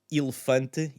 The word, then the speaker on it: elefante: It's one of these things that when you hear the word elefante, either you don't hear it or you hear it entirely.